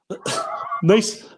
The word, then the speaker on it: Nice: 12th on the ladder which is i think pronounced breast and niece niece was the home